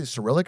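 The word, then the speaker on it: Cyrillic: Technically you could write lemonade stand using uh how do you say cerillic or acrylic letters? How do you say this? Cirrillic. Cerrillic letter.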